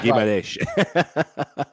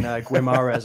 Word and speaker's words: Guimarães: man from Newcastle, Bruno Guimarães, let's get the pronunciation books out. Oh, wait. John might correct you on that. Go on, John. Yeah, Guimarães. Okay, like I said, Guimarães.